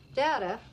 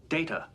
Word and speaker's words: Data: Pulaski when is my name the other is not Dadda look at this data what my name it is pronounced data oh you called me